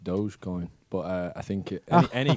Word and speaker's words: dogecoin: coins what's a dog coin i think it's pronounced dogecoin but uh i think any crypto currency olympic